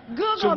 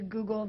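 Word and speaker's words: googol: i'm right i'll prove it to you yes google me do you know what google is named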